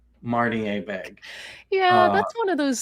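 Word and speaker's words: Abegg: with the field that he continues to call him Abeg. No, it's Marty Abeg. Marty Abeg.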